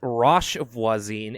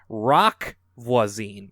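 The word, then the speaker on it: Roch Voisine: she laughed a little, I pronounced his name as Roche Voisine instead of Rock Voisine. The H is silent.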